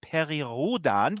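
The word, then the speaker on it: Perry Rhodan: today we're talking about Perry Rhoden or as it is correctly pronounced periodan because it's a German operation there are some Americans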